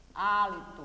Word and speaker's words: hálito: que sobrou a limpo o hálito e com acento no ar não esqueça hálito começa com H certo olha como é